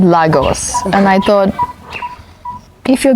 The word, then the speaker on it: Lagos: So I told her, hey, so are you from Lagos? No. Which for me is Spanish, Portuguese, like that's a Portuguese name. Lagos is a Portuguese name.